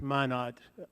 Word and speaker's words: Minot: It's Minot, I believe, would be the pronunciation.